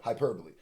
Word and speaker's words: hyperbole: I kept mispronouncing that when I was reading that before. Hyperbole.